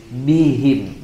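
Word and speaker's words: بهم: ke-15 Ya Allahu yastahziu bihim Ya kalau bi Insyaallah lebih mudah biim ya Tapi tetap kita perhatikan ya jangan sampai kita membacanya dengan tebal bihim bihim biim tipiskan suaranya dan jelaskan Bi bihim ya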